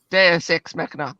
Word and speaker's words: deus ex machina: fading on me i can't even get the pronunciation right deus ex machina that's it i i i'm it there's deus